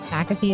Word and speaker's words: McAfee: Riley Green was on the Pat McAfee, is that how you say his name?